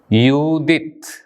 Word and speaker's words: യൂദിത്ത്: യൂദിത്ത്, ഇവിടെ ഹേ എന്ന അക്ഷരം നിശബ്ദമാണ്. ഹേയുടെ അടിയിലെ വര അതാണ് സൂചിപ്പിക്കുന്നത്. യൂദിത്ത്.